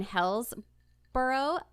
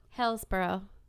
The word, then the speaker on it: Hillsborough: And Gibsonton is located in Hillsborough County, 10 miles south of Tampa. Hillsborough?